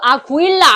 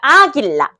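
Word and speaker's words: águila: 아 여기 마찬가죠 아구일라 아니죠 아해 앞에 우위 있으니까 아길라 아길라 하지만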